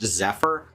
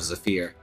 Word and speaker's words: Zephyr: person named as a fear here except it's pronounced Zephyr and that's a very odd to me since